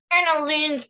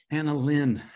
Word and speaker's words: AnaLynne: AnaLynne, thank you. AnaLynne. Rhymes with lanolin.